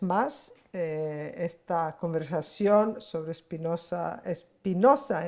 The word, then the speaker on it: Espinosa: esta conversación sobre Espinosa Espinosa en el parque México hay que pronunciarlo al español La espinoso es una